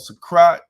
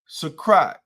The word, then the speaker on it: Suqraat: It's called Sakrat by Latafa. It's called what? Spell that, please. Suqraat. Okay, say the name of it again. Sakrat.